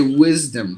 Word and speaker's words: wisdom: sound look at this we say wisdom if you give the yes sound it is not uh 100 perfect you say wisdom what does that sound you have to give the z sound here uh uh so we